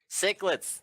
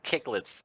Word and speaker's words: cichlids: ram I always get this one get this name wrong cichlids there we go I always want to say kick 'let's did you see Google